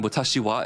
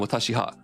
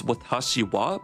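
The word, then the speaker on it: 私は: people get confused between watashiwa and watashiha oh so when you're learning Japanese the way you pronounce It is watashiwa, but it's actually written watashiha, but it's because that ha is a particle, and that's the way you say it.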